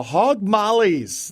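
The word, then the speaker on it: Hogg Maulis: s the hog mollies it's more like mollies I guess it would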